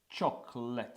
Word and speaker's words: chocolate: Це не чокот, це всього лише два склади. Ми пишемо чок. І потім let chocolate.